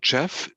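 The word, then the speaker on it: GEF: your main chat yeah it's it's spelled Jeff g e f um I can show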